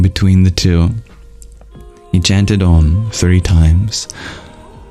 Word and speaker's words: Aum: we begin with om which comprises three letters a u and M pronounced Ed as a single sound ah is pronounced with an open mouth ooh with a half closed mouth and M with a fully closed mouth the extreme open vowel